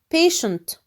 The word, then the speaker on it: patient: Also the CI is pronounced sh. Patient.